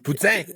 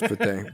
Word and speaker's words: poutine: I'm gonna correct my fucking pronunciation of the word. No, you're doing fine. You're whatever. It's poutine. It's like your third language. It is poutine, but that's fine.